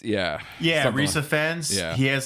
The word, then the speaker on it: Rhys Ifans: of the movie, honestly, is when they introduce Ray's Ifans. How do you pronounce his name? Yeah, I've never actually looked it up, but like Rhys Ifans, yeah. Rhys Ifans.